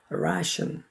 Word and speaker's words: ration: 그래서 한국 사람들이 옛날 미군 부대에 레이션 박스 했는데 이건 레이션이 아니라 영어 발음은 ration, 단음절입니다.